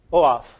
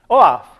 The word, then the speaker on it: OAuth: to tell me what that protocol would be oaf you guys do pronounce it correctly oaf correct we can rely on o off is